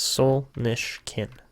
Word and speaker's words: Solnishkin: It's Solnishkin. That's how you say it, Solnishkin.